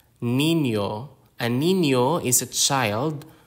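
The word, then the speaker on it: niño: or also in Spanish the next one is Nino Nino and Nino is a child male child Nino stress and syllable patterns Filipino is a syllable timed language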